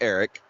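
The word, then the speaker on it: Arick: I think it's pronounced Eric. It's A-R-I-C-K or A-R-I-C.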